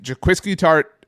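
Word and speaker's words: Jaquiski Tartt: If Jaquiski Tart, pronounce this correctly, right?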